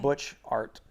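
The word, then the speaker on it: Butchart: called butch art butchered it's like butch art butcher gardens i'll text you take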